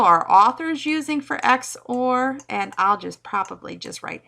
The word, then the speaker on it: XOR: Well, the exclusive OR gate, so XOR is how I'll pronounce it.